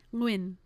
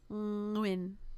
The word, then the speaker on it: Nguyen: Nguyen. Nguyen. Oh yeah, is it the NG? Yeah, it's that weird NG thing.